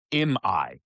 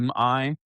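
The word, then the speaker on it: Immae: puts the decisive fight near a village um, called I'm, no, Imai is how you say it, Imai, which is near Antioch.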